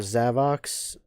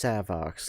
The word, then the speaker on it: Savox: Uh, I remember Zavox. No, I think it's pronounced Savox, like with an S. Yeah, S A V O X.